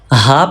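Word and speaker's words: ح: Ha pronounced from throat. And this is upper part of throat, middle part of throat, and lower or farthest part of throat.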